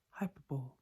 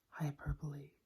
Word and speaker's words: hyperbole: hyperbole hyperbole how many when people pronounce this as hyperbole and that's easy to see why because that is how it's spelled but it is pronounced hyperbole hyperbole hyperbole hyperbole I properly I probably so number 27.